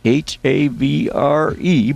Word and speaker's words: Havre: That's Havre, but it's pronounced Havre. Named after a French seaport city of Le Havre, or something. You pronounce it like that. I can't say it in French.